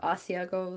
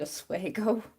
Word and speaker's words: Asiago: Oh, actually, that reminds me of like the Asiago like dressing. The longest time my dad pronounced it Oswego.